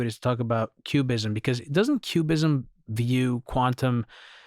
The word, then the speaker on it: QBism: read my book yet, Cubism is spelled with a Q, not with a C. So it's not the art movement.